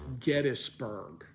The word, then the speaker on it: Gettysburg: new from that family how do you pronounce your name and they always say Gettys so it's founded by James Gettys the family is the Gettys family so obviously the proper pronunciation of the name is Gettysburg but you know I